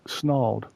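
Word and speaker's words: Snarled: I first heard that story on a YouTube on a YouTube channel called Snald.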